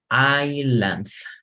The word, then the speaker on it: island: So here, as in the vowels, we pronounce island. So this is like, you don't pronounce the S, ignora una S, se ignoran palabras de la pronunciación.